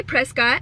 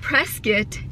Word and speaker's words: Prescott: i went to prescott you can say prescott but i've learned that press get is how the locals pronounce it uh